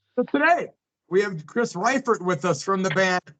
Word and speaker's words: Reifert: It's Reifert. Most people say Reifert, but it is Reifert.